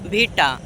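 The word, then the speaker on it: VITA: দেখো যে অ্যাপ থেকে তোমরা মিউজিক নিবা কোন কপিরাইট দিবে না সেই অ্যাপটার নাম হচ্ছে ভিটা। ভিটা অ্যাপ। ঠিক আছে? তো আমি বানানটা বলে দিচ্ছি।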